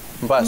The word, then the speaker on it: Mbas: Mbas. Mbas. It's a bus, but it's pronounced as bus.